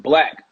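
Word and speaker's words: 6LACK: The 6 Lack. Is it Lack? No, or six it's Lack Black. Black. It's spelled with a 6, but it's Black. Oh, but the 6 supposed to be a B.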